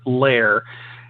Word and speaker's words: Ler: And then there's Lair. That's how they pronounced it. L-E-R. It's short for something else, but Lair, as in Curly and Moe.